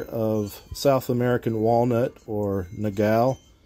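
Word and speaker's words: nogal: South American Walnut or Nagal or no gal as I've heard it pronounced and then right now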